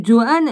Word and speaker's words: Johannes: 2 spécialistes nommés Johannes, est-ce qu'on prononce Johann, J-O-H-A-N-N-E-S ou Johannes? Non. Pourquoi je vais chercher ça comme ça? Non, c'est Johann.